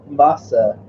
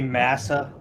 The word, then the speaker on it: massa: The good old days when they were dependent on masa. Yeah. Is that how you pronounce that? I don't know. It's pretty sure it's supposed to be massa, because it is massa.